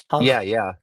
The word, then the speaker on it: Hajj: Oh, for the Islam Hag. stuff. Hajj. Yeah, Yeah. because like in Egypt, I think that letter, the jim, is pronounced as a G, a gim.